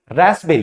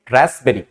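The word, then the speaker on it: raspberry: होता है रेस्प बेरी जिसमें पी क्या होता है साइलेंट होता है और पी को साइलेंट करने के बाद हम इसको क्या पढ़ेंगे रसबेरी क्या पढ़ेंगे रसबेरी नेक्स्ट आई जिस तरह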